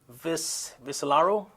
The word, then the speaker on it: Viscellaro: And, let me know if I pronounce your last name correctly. Viscellaro?